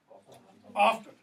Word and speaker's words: often: Often. Notice my pronunciation there, often. Old English, Middle English, early modern English, the T wasn't pronounced. Often rhymes with coffin. Silent T, okay? So, but what does often mean?